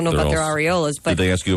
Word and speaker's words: areola: Apparently, it's supposed to be areola Areola? What? with the accent on the re.